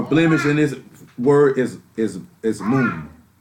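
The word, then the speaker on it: מום: The Hebrew word for blemish in this word is moon. It's spelled M''UWM.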